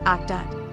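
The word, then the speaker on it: אחדות: The Hebrew word for unity is pronounced akdat.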